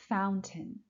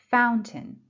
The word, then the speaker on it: Fountain: Buckingham Fountain. Buckingham Fountain. Buckingham, first syllable. Fountain, first syllable.